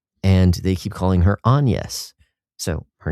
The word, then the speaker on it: Agnès: And uh in that game her name is is spelled A G N E S. So, I you know, just reading it, I thought it was Agnes.